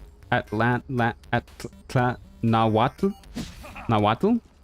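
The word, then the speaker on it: Nahuatl: Naddle is pronounced where the TL is a single sound like the TL in Atlantic. Atlant at Nawatu Nawatu like that H.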